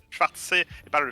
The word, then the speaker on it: Schwarzsee: Il m'a corrigé sur la prononciation Schwarzsee et pas le Schwarzenegger.